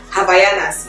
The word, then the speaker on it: Havaianas: I keep mispronouncing that thing. Havaianas, yeah.